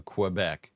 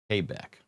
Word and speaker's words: Quebec: It's not pronounced on the radio Quebec. It's pronounced Quebec.